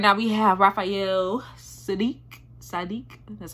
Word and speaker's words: Saadiq: again okay right now we have Raphael sadik sadik that's how you say it ask of you